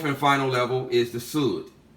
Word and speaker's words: Sud: And the fourth and final level is the Sud, pronounced like wood, but spelled S-U-D.